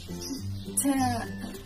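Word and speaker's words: ط: This one sounds like the strong version of the letter Ta. It kind of sounds like both T in the name of Tom. When you pronounce it, try to contract your throat like you did with Ta.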